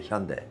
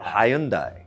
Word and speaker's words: Hyundai: Pero a los estadounidenses también les cuesta pronunciar Hyundai Lo dicen “Ha-yoon-dai” Ha-yoon-dai, jajaja ¡Dai-ha-yoon!